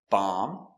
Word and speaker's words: bomb: So remember, whenever you see MB at the end of a word, the B is always silent.